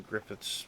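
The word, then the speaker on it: Gruffydd: Uh, his name is spelled G R U FF Y D, but I know that it is spelled uh or pronounced Griffith because uh my last name happens to be actually in real life Griffith and uh I have some heritage from Wales where the name or originated.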